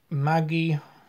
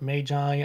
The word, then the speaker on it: Magi: complex uh volume one Maggie or Magi I don't know how you would pronounce it but I would personally pronounce it Mai but volume one I